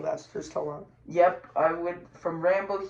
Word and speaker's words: Sylvester Stallone: That's how you pronounce his name. Sylvester Stallone.